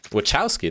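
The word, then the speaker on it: Wachowski: um this interview hello Lily wowski here wowski that's how you say it okay I'm glad that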